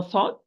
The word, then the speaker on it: ص: They are the end of the tip, end of the tip, with the bottom of the lower central incisors from inside.